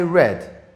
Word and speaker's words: read: read you see this the same spelling are e ad are e ad but the pronunciation is different this is read I read but in the past I read but it's written in the same way okay so yesterday I